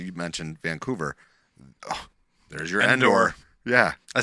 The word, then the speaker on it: Endor: mentioned Vancouver there's your Endor yeah I said it right this time yeah not indoor indoor outdo Endor Endor that's the accent up